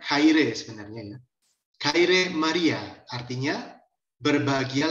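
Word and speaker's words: χαῖρε: disini di bagian bawah ada exe ini bacanya Khairi sebenarnya kirim Maria artinya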